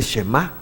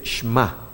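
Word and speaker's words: שמע: Lleva esta Shva. Entonces no se dice Shema, como dicen muchos, sino se dice Shma. Shma Israel. Yo sé que a veces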